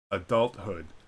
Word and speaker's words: adulthood: Thomas the river temps in some compound words th is pronounced separately as T and then H such as adulthood remember adulthood is actually two words adult and Hood adulthood compound word all